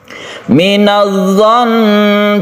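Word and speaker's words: مِنَ الظَّنِّ: Minadh-dhon, cara membacanya sukun tasydid nun, yaitu guna ketika waqaf itu tetap digunakan dengan ditekan ke nunnya. Minadh-dhon, dan ditahan. Minadh-dhon katsiran minadh-dhon.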